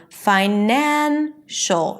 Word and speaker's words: financial: Same thing with finance. The primary stress is on fi. Finance. Once I add the suffix then it turns into financial from fine it shifts to the second syllable nan the one syllable before the suffix.